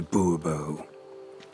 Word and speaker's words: Bubo: de Bobo fine fine Monsieur de Bubo the emphasis falls on the last syllable Bobo mm-hmm see now I'd